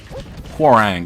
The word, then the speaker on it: Hwoarang: a term for it, but I was a Hwoarang Lord. That sounds so ugly. Hwoarang Lord. Is that how you pronounce that guy's name? The character? Hwoarang. Yeah, that's how you pronounce it.